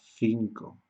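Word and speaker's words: cinco: Tenemos esta C y tenemos esta C, pero como la vocal que le sigue es la I, tenemos que pronunciar Z. Y como la vocal que le sigue aquí es la O, es k, k, k, 5, ¿okay?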